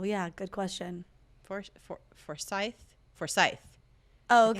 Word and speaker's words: Forsyth: good question for forsyth forsyth okay that's how people pronounce it for scythe okay uh dawson gwyneth